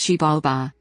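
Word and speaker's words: Xibalba: The Maya vision of the afterlife, Shabalba, the Maya underworld, Shabalba, pronounced Shibalba, was not a place of punishment like the modern western concept of hell.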